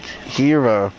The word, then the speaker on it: gyro: Technically, you say it like Hira.